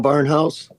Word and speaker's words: Barnthouse: Barnhouse. The T is silent.